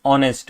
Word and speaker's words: honest: know although the word is H but the pronunciation is honest which is O right so yeah this is